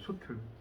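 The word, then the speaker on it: 솥을: 얘는 치읓으로 바뀌면 돼 안 돼? 안 돼. 그럼 얘는 발음 어떻게 해야 된다? 틀 이렇게 발음하는 거야. 소틀.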